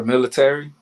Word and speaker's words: militar: Okay, military. No. Militar. Oh, okay, militar. Stop it. Don't add the tar.